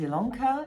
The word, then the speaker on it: Ilonka: longer my name is ilonka yes it's spelled with an eye but pronounced with an